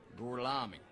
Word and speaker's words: Gorlami: Lo pronuncio correttamente? Sì, corretto. Gorlomi? Per cortesia, me lo ripete ancora? Gorlami.